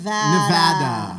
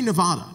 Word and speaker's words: Nevada: And we also want to teach her the correct way to say Nevada. Nevada. Right? Because that is troubling for some folks. But here's the other 49 states say Nevada.